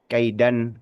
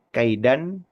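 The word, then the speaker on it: كيدا: yang aslinya kalau kita baca secara umum ya kaidan gitu kan ya seperti itu. Tapi kalau niatnya wakaf di kata itu maka kaidan berubah menjadi kaida seperti itu dua harakat.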